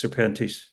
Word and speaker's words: Serpentis: So the name serpents seems to give this crowd trouble pronouncing its various forms. Serpentennius. Serpents and serpentis. So that's a possessive case, Jerry. That's just a possessive case. Serpentis. Yes.